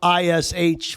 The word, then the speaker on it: Hrish: HRISH for those of you on Spotify and Apple. So, yeah, you got to put that H in first. Hrish. The H is silent.